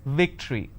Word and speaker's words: victory: remember what i said if you have the letter v you need to bite your lower lip it's victory and if it's w